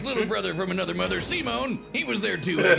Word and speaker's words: Simon: That's right, today we're checking out a brand new video from Death Battle, Simone the Digger, yes it's pronounced Simone, not Simon, versus Kyle Rayner.